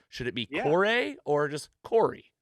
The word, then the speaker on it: Corray: how do you say we say corey at home um the uh y the the a has been taken away from whatever it can be curry in a hurry listen it is all